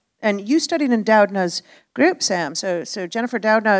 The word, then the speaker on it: Doudna: And you studied in Doudna's group, Sam.